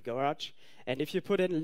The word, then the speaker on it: GOARCH: Don't call me out for this pronunciation. It's Rob Pike who has very sometimes special ideas on how to call things. So it's Goes and GoArch.